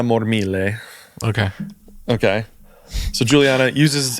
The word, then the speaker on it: Mormile: But yeah, so Kixie is uh I'm going to go full Italian on the pronunciation here. Juliana Mormile.